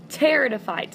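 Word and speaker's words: pteridophytes: almost like carpet okay teratophytes and so the p in terado fights is silent and these are gonna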